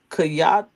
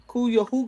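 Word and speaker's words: Cuyahoga: By 1960, rivers were catching fire from chemical waste like the Kayat, how you say it? Sound it out. Kuya River in Ohio.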